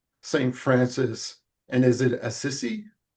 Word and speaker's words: Assisi: And then you also have um Saint Francis and is it Assisi?